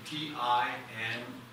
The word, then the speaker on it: Tinguely: Tinguely.